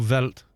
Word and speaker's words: Welt: did you pronounce it die new welt or die new veldt ws are more like these in german aren't they yeah so still there